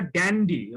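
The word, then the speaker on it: dandy: ইংরেজি উচ্চারণ এটা আসলে ড্যান্ডি বলে, কোয়াইট ড্যান্ডি। ড্যান্ডি। হয়তো আমাদের দেশে বাংলাদেশে এটা খানিকটা অপভ্রংশ হয়ে ডান্ডি হয়ে গেছে, কিন্তু মূল শব্দটা ড্যান্ডি।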